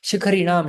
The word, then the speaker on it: शिखरिणाम: आप में से कुछ जनों को शिखर इसका उच्चारण नहीं करने आ रहा था। शिखरिणाम, शिखर समझते हैं?